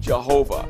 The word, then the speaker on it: Jehovah: And so YHWH in the German pronunciation, Y is pronounced J. And so that's where you get the word Jehovah.